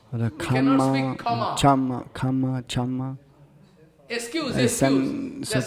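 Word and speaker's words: ক্ষমা: Kama, you know kama? Kama means excuse. But we should speak chama. Oder Chama.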